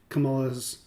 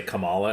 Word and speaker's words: Kamala: And I have liked Trump's history politically than I have enjoyed Kamala's sorry, that's not very respectful.